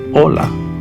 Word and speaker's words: hola: The H is silent in Spanish. So we say hola.